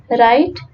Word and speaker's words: write: knife as you see that the letter W is silent in the word right and the letter K is silent in the